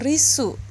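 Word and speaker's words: リッス: Namun kalau kalian menggunakan huruf tsu kecil seperti ri-nya besar, tsu kecil, lalu su-nya besar, maka dibacanya menjadi risu.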